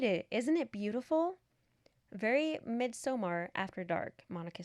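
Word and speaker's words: Midsommar: Very midsomar after dark. Monica said, "Is that how you say it?" Midsummer. No. No. Mid I think it's Somar.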